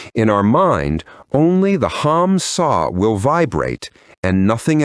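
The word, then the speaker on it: Ham: Hum is written with the letters H-A-M, and sa is written with the letters S-A-H. The H always sounds like J.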